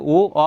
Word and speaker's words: ঙ: অনেকে উম্ম বলে, উম্ম হবে না, এটা উ অ হবে।